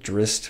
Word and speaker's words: Drizzt: it is Drizzt Do'Urden or apparently it's pronounced Drizzt which I hate I really hate that apparently wrong saying Drizzt but I'm gonna keep